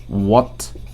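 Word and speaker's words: what: আমরা যখন এটার উচ্চারণ করব, এটা হোয়াট হবে না, এটার উচ্চারণ হবে ওয়াট।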